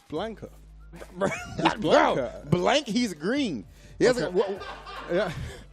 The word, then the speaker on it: Blanka: man I'm saying it correctly did you say blinka I'm saying it correctly who is blinka what was it Blanca how do you say it Blanca Blanca yeah it's Blanca blank he's green he yeah I don't understand